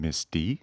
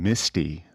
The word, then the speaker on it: Miss D: hello everyone hi guys sometimes I feel like I'm saying Misty when I'm uh saying that I really got to pronunciate that yeah pronounce that D Miss D yeah there we go